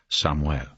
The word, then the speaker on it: Samuel: He said it with a Hispanic pronunciation, Samuel.